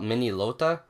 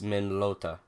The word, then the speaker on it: Minolta: old men old Minolta I was pronouncing after the long soccer used to call it mini lota but I guess it's min lota very weird word but